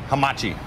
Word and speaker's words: Hamachi: Hamachi.